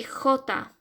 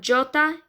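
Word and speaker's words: jota: but i you say e j you say hota okay so it's not jyota you make a sound so like the same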